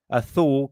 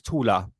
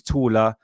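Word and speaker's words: Thule: to uh t to thor gazelle shaft but the real pronunciation of that is tula that's the German pronunciation. So the thor society is the German pronunciation is tuler gazelle shaft which means taller society.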